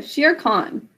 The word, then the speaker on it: Shere Khan: Remember that in Khan, there's a silent H. Shear sheep. Think of it like that. And then think of just con. It's sound H. Yeah, it sounds just like shearing sheep. Spelled differently than that, but it does sound just like it. Okay, sheer con. Sh, e, r, silent final E. Con is k, a, n.